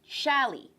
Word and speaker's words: challis: some suggested fabrics so the first one is actually pronounced shaly alright this is one of my favorite fabrics to work with and i'm gonna be working with a rayon shelley and we'll get into